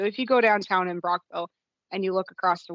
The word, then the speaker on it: Brockville: right end oh why it's why is it pronounced Brockville when there's two o's there's not two o's